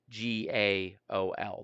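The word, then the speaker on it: gaol: called a jail and that's spelled g a o l that's how you spelled jail in time period so when you read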